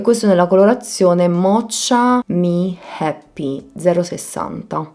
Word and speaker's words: Mocha: e questo nella colorazione Mocha Me Happy 060. E pensavo al fatto Mocha Me Happy non ha senso, perché si pronuncia Mocha, Mocha Me Happy.